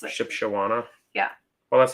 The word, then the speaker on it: Shipshewana: something I was ship she wanna ship it's Shipshewana early says how the locals pronounce it Shipshewana yeah well that's how you you spelled it